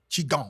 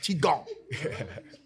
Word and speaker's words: Qigong: Qigong. Mm-hmm. Y'all see I pronounced it correctly. Qigong.